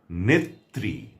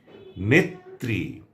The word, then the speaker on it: নেত্রী: না আরেকটি শব্দ বলি নেত্রী নেত্রী তর মধ্যে রফলা থাকার কারণে তার দীপ্ত হয়েছে যার অর্থ হচ্ছে পরিচালিকা।